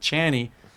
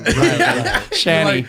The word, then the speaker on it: Chany: And then all of a sudden, people said Channy, which it could be like it could also be like the English pronunciation with CH. So it's Yeah. like, it's not like that bad, but I'd rather Yeah. the other one.